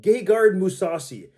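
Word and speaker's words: Gegard Mousasi: we have light heavyweight gay guard musasi gay guard musasi it is what it is man forgive him for his name is what it is that's how you pronounce it that's how all the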